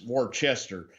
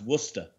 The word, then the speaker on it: Worcester: they spell worcester because they spell it up here like it says war chester but it's pronounced worcester but i thought it